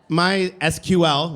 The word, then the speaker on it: MySQL: Dolphin is named sakila my my SQL which is the way you pronounce it was named after the inventor's daughter my or Planet scale attempted to Fork my sequel after licensing disagreements in